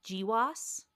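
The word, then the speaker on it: GWAS: Well, so one of the things your lab specializes in is genomewide association studies or do we do we pronounce this GIWAS?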